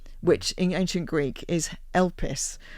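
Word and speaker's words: elpis: in ancient Greek is elus. So which I always think is like when I when I learned it was like help um you know with a silent h.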